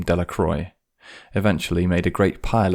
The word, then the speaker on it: Delacroix: Bobby and Harry Jones and Dickie Delacroix, the villagers pronounced his name Delacroix, eventually made a great pile of stones in